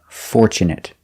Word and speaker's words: fortunate: next we have fortunate we use the short sound it it fortunate because it's not a verb also with this word we have tu tu in the middle of the word is pronounced chchch and not for but for Fore Fortune Fortune